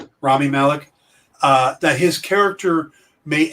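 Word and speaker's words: Rami Malek: been some speculation that perhaps remy malik's is that how you pronounce his name remy malik i think it's rami rami malik uh that his character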